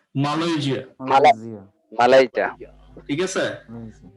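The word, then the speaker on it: Malaysia: এই যা exactly, মালয়েশিয়া না, বাংলায় বললে মালয়েশিয়া ঠিক আছে, বাট যখন ইংলিশে বলবো মালয়েশিয়া, মালাইকা ঠিক আছে?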